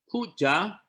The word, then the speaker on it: puja: It is very important for us as students of the Buddha Dhamma to know that puja, pronounced as P-O-O-J-A, puja is not a direct telephone line telling the Buddha what to do.